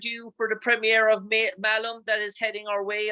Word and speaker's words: Malum: the 34th stats throughout Ireland uh it's called melon melon in terms of its correct uh pronunciation it features an All-Star Caster Jessica Zulu